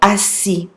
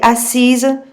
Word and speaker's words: assise: Okay, it's really important to make agreement if your subject is feminine because it changes the way that the past participle is pronounced. Tu t'es assis for a masculine subject and tu t'es assise for a feminine subject.